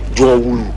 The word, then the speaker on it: Jowulu: Jaw is something like valley, a big valley. Jaw, Wulu, something big. Jowulu.